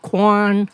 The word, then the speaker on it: Quan: just your first name everybody calls me and sometimes they'll say Kwan sometimes they'll say Ki Kuan but as long as you say my name I'm happy okay but I